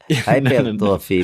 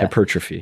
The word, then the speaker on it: hypertrophy: not the accent, but the emphasis. That's what the word I'm looking for. Oh, the second syllable. Yeah. The second syllable. Yeah. Hypertrophy.